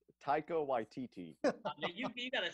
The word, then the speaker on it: Taika Waititi: How do you say it? I call him Takiwaki. What do you call him? Takiwaki. That's not it? That's not even close? No? Thomas, say it, man. Taika Waititi.